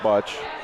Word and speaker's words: bocce: the sport abachi uh you may hear me call it hear us call it buch that's uh kind of the naon pronunciation I guess well Bachi